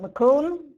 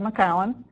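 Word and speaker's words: McIntosh: Jonna gold and maowen don't pronounce it mcon you can tell your from upstate New York if you say McAn instead of maau um these varieties show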